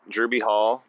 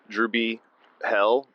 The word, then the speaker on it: Drewby Hall: boys Ichiban Sayan hey this is drewby Hall not dreby hell no matter how many times cam gets my name wrong what's up [ __